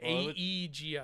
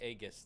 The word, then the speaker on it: Aegis: It Aegis is Aegis is spelled with an e though. Aegis. Well, it still be agus then.